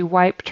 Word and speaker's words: wiped: She wiped her off. So that ED on the end there is pronounced as a T this time.